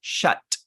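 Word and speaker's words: chatte: Unless it's a female cat, then it's pronounced chat. You actually pronounce the T. It's female. If it's male, it's sha.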